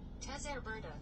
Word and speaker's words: Cesare Borgia: According to Wikipedia, Cesare Borgia, Italian pronunciation, Cesare Borgia, T, Valencian, Cesar Borja, Cisabidia, Spanish, Cesar Borja,